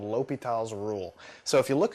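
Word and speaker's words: L'Hôpital: here on the screen, it looks like it's L'Hopital's rule. And so you might be tempted to call it that, but the actual pronunciation is a French guy, and so you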